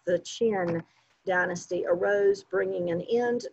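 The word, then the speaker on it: Qin: and then the chin that is pronounced chin just like below your mouth the chin dynasty arose bringing an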